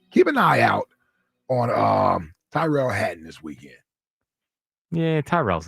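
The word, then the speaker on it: Tyrrell: Is it Terrell or Tyrell? Tyrell.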